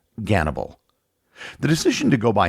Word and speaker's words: Gannibal: The name he chose was Hannibal, or as it's pronounced in Russian, Gannibal.